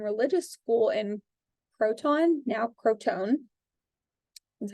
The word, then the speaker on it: Crotone: He then went on and founded a philosophical and religious school in Croton, now Crotone, that's how it's pronounced now, that had many, many followers.